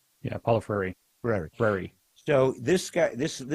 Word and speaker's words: Paulo Freire: How do you pronounce his last name? Yeah, Paulo Freire.